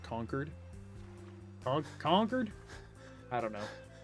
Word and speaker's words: Concord: Really pronounced Concord. It's usually pronounced almost like conquered.